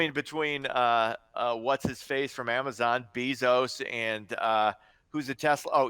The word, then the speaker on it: Bezos: still can't figure out how to pronounce his name is it beef no sir Bezos but Amazon's doing wonderful